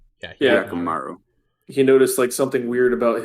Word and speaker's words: Hyakkimaru: And then with how do you pronounce his name? Hyakkimaru? Yeah, Hyakkimaru.